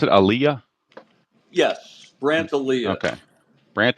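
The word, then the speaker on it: Alyea: alah is it Aaliyah is that how you pronounce it Aaliyah yes brand Aliyah okay Brant Aaliyah okay Aaliyah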